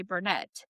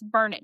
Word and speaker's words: Burnett: And people say Burnett, but it's burn it, darn it. That's how we remind people this is how you say it.